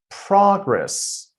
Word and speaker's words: progress: Let's take a look at the first one. Progress. Progress. Progress. So, I'm putting the stress on the first syllable. So, this is the noun. Whereas progress, progress, I'm putting the stress on the second syllable. So, in that case, that's a verb.